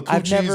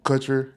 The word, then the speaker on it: Kutcher: she was Mila Coochie, and he was Ashton Coochie. Not even. Kutcher. I get the Kutcher. Kunis. Kunis is not Coochie. It's close. No. It's close enough. I should have started led with Kutcher.